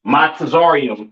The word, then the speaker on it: Mizraim: Uh, Mizraim, all right, aka your Egyptians, all right, pronounced Matazarium in the Hebrew, Matazarium in the Hebrew, all right.